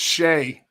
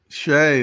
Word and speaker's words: Shai: It's Shai Gilgeous-Alexander. Shai, that's right.